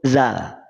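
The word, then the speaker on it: ذال: Jadi ke depan kalau ditanya ini huruf apa, maka dijawab huruf zal. Bukan za, bukan zu.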